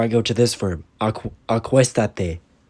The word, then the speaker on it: Acuéstate: Acuéstate. In the positive, the reflexive is attached at the end, and there's an accent mark on the third syllable.